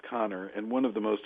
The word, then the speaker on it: Kanner: And so, by the way, it looks like Kanner, but it's actually pronounced Connor.